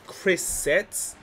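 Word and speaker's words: Chris Seitz: We got Chris Setz. That's how you pronounce his name.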